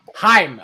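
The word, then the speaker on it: Chaim: Is it Haim? Is that how you say it? Haim. Haim. Okay, that's a little weird Jewish guy with a name like Haim. But well, that's an Israeli name. That's a Hebrew name.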